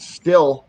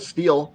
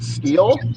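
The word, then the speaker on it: Stihl: I would love to have $1 for every time somebody pronounces it still instead of steel. Yeah. Still, all the way. Or still. I know. Mr. Every single employee of Steel pronounces it steel.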